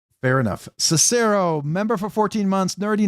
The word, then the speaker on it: Cicero: Oh, like the Roman emperor. Oh, okay. Cicero.